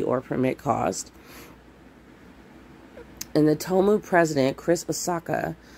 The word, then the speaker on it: Tomu: Tomu, T-O-M-U is the way you spell that.